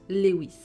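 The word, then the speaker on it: Lois: Alors ça s'écrit Loï. L O I S mais ça se prononce Lewis.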